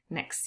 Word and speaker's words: next: Number two, I hope to see him next year. There is elision and the T is dropped. The final T in next. Next next year.